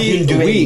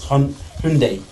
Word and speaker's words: Hyundai: It's not Hyundai, mate. It's Hyundai.